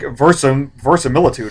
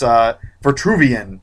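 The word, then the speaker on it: Vitruvius: It's like Versamilitude or something like that. But it's Vitruvian. Yeah, that's what it is. It's Vitruvian, and he plays like the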